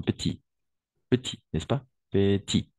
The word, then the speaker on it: petit: petite c'est féminin d'accord petite on va prononcer le thé et petit et oui comme ça de façon petit petit tout simplement si on doit faire la prononciation petit d'accord et petite avec le t à la fin OK et pas la